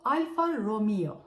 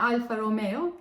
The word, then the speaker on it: Alfa Romeo: okumayı tercih etsek de bunun doğrusu Alfa Romeo yani Alfa Romeo değil Ama gel Ne yalan